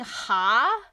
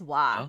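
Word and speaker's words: は: Yeah, if you've been saying ha, that's not usually right. Usually it's wa.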